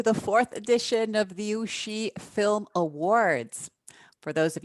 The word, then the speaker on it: Ouchy: now born in 2016 and pronounced ushi from my fellow anglos who might be tempted to say ouchi the film festival takes